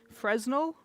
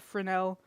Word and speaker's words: Fresnel: with people about lights, I know it's spelled Fresno, but it is said Frenel. It's a French guy that invented the type of light, uh, the lens on the front.